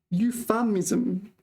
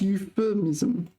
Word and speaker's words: euphemism: it wrong again you why do you say euphamism but it's pronounced euphemism maybe I'm mispronouncing it